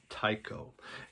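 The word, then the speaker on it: Tycho: it's t y c h o it is pronounced Tao and Scott Hansen is the person that is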